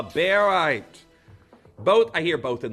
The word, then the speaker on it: barite: the pronunciation of this I know a lot of you know it as borite but its name is derived from its uh chemical element of barium so really uh beite both I hear both